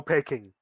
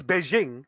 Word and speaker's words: Beijing: too like there is there is no pecking you know taking china it's it's beijing it's just that during the times of you know of all the chinese uh immigration all that stuff and or trading they pronounced it wrong and then they're just